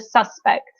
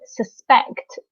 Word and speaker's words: suspect: is spelt the same, if we are using the noun, we always stress the first syllable. No, yes, the suspect. So we stress the first syllable, the suspect. Whereas if we're using the verb, we stress the second syllable. So to suspect somebody.